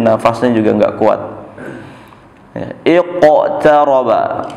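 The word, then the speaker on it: اقترب: Ya, iqtaraba, ya, bunyinya seperti hidup huruf qafnya, iqtaraba, ya, bukan iqtaraba, jangan iqtaraba iqtarabatis sa'atu syaqqal qamar, qaf bertasydid, ada tekanan khusus, syaqqal qamar.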